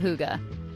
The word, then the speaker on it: hygge: He wrote The Little Book of HOO-guh.